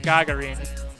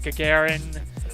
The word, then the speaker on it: Gagarin: is actually part of Gagarin, and I'm pronouncing that way instead of Gagarin, because it's how they pronounce it in game, and I suspect it's closer to the Russian pronunciation.